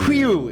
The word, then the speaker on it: whew: Whew. It's spelled W-H-E-W.